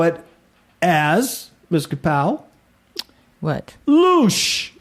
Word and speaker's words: loosh: Because I've heard it pronounced losh. No, But it's I don't. Loosh. So I would say it's loosh.